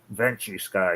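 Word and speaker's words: Ventusky: both on windy and ventu sky is how you say it so I looked up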